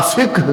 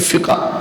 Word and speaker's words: فقہ: بولیے فقہ۔ فقہ جسے ہم کہتے ہیں، علماء فقہ کہتے ہیں صحیح تلفظ کے ساتھ۔ ہم عام لوگ کیا کہتے ہیں؟ فقہ۔ کیا کہتے ہیں؟